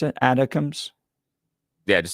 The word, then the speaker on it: ATACMS: These, how do you pronounce it? Atoms? Yeah, just say ATACMS.